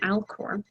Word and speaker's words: Alcor: eye would be mizor and elkhart mizar and alcor in fact if you want to go to those i didn't spell that right did i uh mizar would be